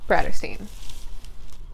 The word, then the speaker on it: Bratterstein: My name is and my channel name is pronounced Bratterstein. Like Brat and Catterstein, but Bratterstein, you feel me?